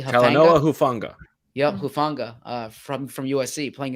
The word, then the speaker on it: Talanoa Hufanga: And then you look at I said their corners are not their strength, but the safety, am I pronouncing it correctly? Talanoa Hufanga.